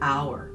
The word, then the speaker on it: hour: It begins with an H, but it is silent. It starts with a vowel sound, ah. An hour, same thing.